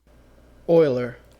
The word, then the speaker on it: Euler: again how that is pronounced uh how to pronounce Euler let's see Euler Euler okay actually I pronounced it correctly so